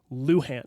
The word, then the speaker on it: Luhan: my maiden name is Luhan so let me tell you gotcha not trying to say that you're wrong in that regard but when it comes to Mabel Dodge Luhan it is pronounced Luhan I even thought it